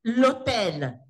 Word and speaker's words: hôtel: So the H is silent. So say l'hôtel. Okay, and then we have avion.